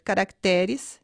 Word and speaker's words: caracteres: Além do no plural ser acrescentado também ES, ocorre um deslocamento da sílaba tônica. Júnior, juniores, caráter, caracteres, sênior, seniores.